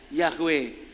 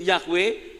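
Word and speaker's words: Yahweh: kalau orang bacanya Ya yahwe kenapa disebut yahwe ditambah konsonan karena itu ditambah vokal huruf vokal karena semuanya huruf mati yhwh tidak bisa disebut mau Sebut apa coba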